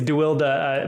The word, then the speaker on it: deWilde: It's deWilde, but a lot of people say deWilde. It's a Dutch name.